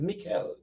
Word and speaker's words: Mikhail: I think it's Mikhail, right? I pronounce right? Yeah.